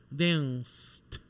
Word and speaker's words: danced: Dance, apesar de terminar com E, a gente não pronuncia. A gente fala como se fosse um sonzinho de S, né? Então, dance, danced.